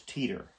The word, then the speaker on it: Teeter: to be around and Linda was Teeter which rhyme with meter Teeter and meter and point to this